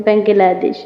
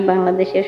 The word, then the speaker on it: বাংলাদেশ: Guys খেয়াল করবেন উচ্চারণের ক্ষেত্রে একটু, আনা মিন বাংলাদেশ, বাংলাদেশ। একটু খেয়াল করলে আপনারা বুঝবেন যে আমি উচ্চারণটা ভিন্ন ভিন্ন কেনই বা বললাম প্রথমে। যখন সিম্পলি বলছি আমি বাংলাদেশের সন্তান, যখন কোনো ইংলিশম্যান